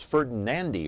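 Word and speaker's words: Ferdinandi: Electronics and Appliances so what is the correct pronunciation of the last name it is Thomas ferdinandy right yes hey I finally got it f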